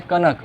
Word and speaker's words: कनक: एक होता है कनक और एक होता है कणक। कणक कणक और ये होता है कनक। कनक कणक। प्रोनाउंसिएशन में थोड़ा सा फर्क होता है।